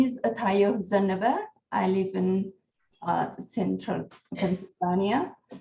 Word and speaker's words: Zenebe: And your last name is pronounced? My last name is Zenebe.